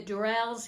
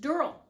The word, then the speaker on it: Durrells: I did a review and I said the Dells in Corfu but it's actually found out that their last name is pronounced Dural so this is about the Dural and what